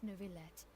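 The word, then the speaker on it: Neuvillette: have the absolutely just an honorable chief justice nouveaulette okay that's how you say it fair enough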